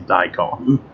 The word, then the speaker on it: daikon: how do you pronounce that and i've been pronouncing it right this whole time without realizing this is daikon it's a japanese uh it's a vegetable apparently